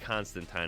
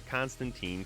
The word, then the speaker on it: Constantine: getting fighters like Constantine it is pronounced constant time I guess I did my research not a Constantine Constantine so that'd be